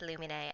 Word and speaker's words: Lumine: nine of the luminary comic dub yes it's pronounced illuminae and you can fight me about it honestly